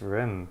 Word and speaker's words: Reims: Yes, Rem.